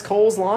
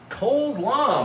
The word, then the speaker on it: coleslaw: Every shitty backyard barbecue has Cole's Law. You've never heard of Cole's Law? Really? I thought it was more popular than that. Cole's Law, man. Oh, I'm mispronouncing it. It's coleslaw.